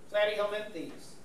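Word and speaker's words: Platyhelminthes: Jellyfish as well yeah flatty helenes flat rhymes with flat these are flat worms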